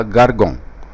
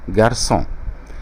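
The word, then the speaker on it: garçon: تحت حرف السي دي، هنطقها جارجون، ولكن بوجود السيدية المعلقة دي تحت حرف السي هتخلي حرف السي يتنطق اس، فهنطقها جارسون.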